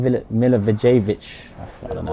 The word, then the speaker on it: Milivojevic: Milivojevic. I don't know how to say it. Milivojevic.